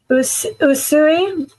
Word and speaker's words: Usui: Am I pronouncing the UC Reiki? People are going to write me, so help me. Usui, Mikao Usui.